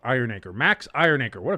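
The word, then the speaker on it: Iheanachor: State offensive tackle Max Iron Anchor at number 21. Max Iron I think it's Iron Anchor. It's spelled weird, but it's I think it would be pronounced iron anchor.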